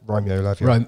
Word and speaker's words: Lavia: How do you pronounce his name? Romeo Lavia.